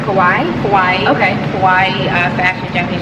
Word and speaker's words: kawaii: So was that your first introduction into, you said it's pronounced kawaii?